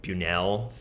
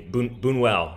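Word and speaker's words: Buñuel: I watched Belle de Jour, the Bunuel film. Is that how you say it? Yeah. Oh, yeah. Yes. Really, really interesting movie. Bunuel.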